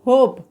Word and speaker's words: hope: इसी प्रकार हम पढ़ सकते हैं HOPE, यानी कि यहाँ पर अंतिम लेटर जो है वोवेल आ रहा है ई, और इससे पहले कॉन्सोनेंट लेटर आ रहा है, उससे पहले क्या आ रहा है, वोवेल लेटर आ रहा है ओ, तो ओ का उच्चारण क्या होगा, ओ होगा। तो इसे पढ़ेंगे HOPE, होप।